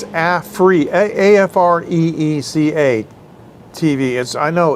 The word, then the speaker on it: Afreeca: Because as I said, Africa, you must have thought I was pronouncing it kind of bizarre. That would be. It's not Africa, it's but I didn't do it. Afreeca.